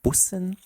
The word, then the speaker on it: Bussen: The second one is the double S, which means we have a sharp S sound and a short vowel, so it's pronounced Bussen.